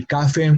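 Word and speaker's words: café: we that we mentioned for example cafe cafe and on a vowel but it has its emphasis on the last syllable a second to last no witness a cafe we say cafe la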